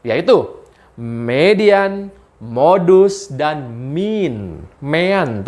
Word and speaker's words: mean: Mean tulisannya, bacanya mean.